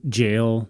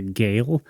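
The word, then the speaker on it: gaol: actually I had never seen the jail not spell j a i l i so g a e l I didn't put together as a jail like an imprisonment um and I kind of pronounced it in my head like a gale and I didn't know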